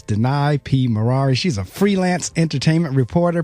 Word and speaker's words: Maraire: She said, it sounds like the word deny in a car, Ferrari. So it makes it real easy for remember. It's Danai P. Maraire.